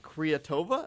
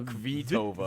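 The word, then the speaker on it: Kvitová: I think it's someone named like Creatova. Am I correct with her pronunciation? I No, it looks like K vi ova. So, it's got a vtova.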